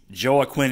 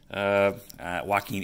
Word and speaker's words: Joaquin: and it looks like Joey Quinn Andujar Joaquin Andujar I know how to pronounce it I'm just being